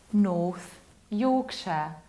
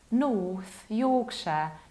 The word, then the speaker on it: North Yorkshire: And analogically, as you might imagine, this county will be pronounced like North Yorkshire, North Yorkshire. Pay attention to how much of a prolonged O I articulate.